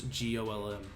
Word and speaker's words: GOLM: which is of course golm much to a surprise this ends up being pronounced like Gollum anyway on a side